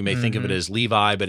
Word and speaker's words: Levi: And again, Levi is L-E-V-I. So some of you may think of it as Levi, but it's actually Levi as it's pronounced.